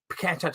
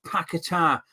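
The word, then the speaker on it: Paquetá: and had money on petta to get card so I know how to pronounce it and it's pakar and it's not just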